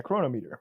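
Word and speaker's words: Cronometer: i track every calorie now on is it chronometer is that how that's pronounced yeah chronometer chronometer anyway chronometer works too but a chronometer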